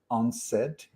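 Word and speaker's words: UNCED: conference that was called u-n-c-e-d when when you pronounce it it's onset i love these type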